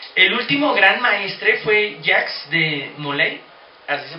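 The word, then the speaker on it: Jacques de Molay: El último gran maestre fue Jax de Moley, así se pronuncia que me parece, el gran último gran maestre que era el mero mero de los caballeros templarios.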